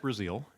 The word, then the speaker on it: Brazeal: Brazil. I is pronounced like the country if you live in the country, but it's a very Irish name.